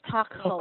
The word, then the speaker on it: Stockholm: This, we have a silent L on Stockholm. Stockholm. It's a place in Ah, Sweden, no L sound.